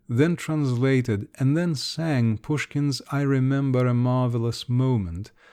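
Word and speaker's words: Пушкин: likeness to the italian even the names pushkin she pronounced it pushikin and glinka sounded somewhat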